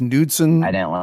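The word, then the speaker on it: Knudsen: It's Nudson. It's a Nudson law. K N U D S E N.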